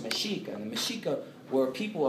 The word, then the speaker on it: Mexico: word of the indigenous the word mexico was pronounced meshika and the meshika were people of the region